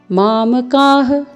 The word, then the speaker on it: मामकाः: मामकाः, यहाँ पे भी विसर्ग है, तो आपको ह का उच्चारण करना है।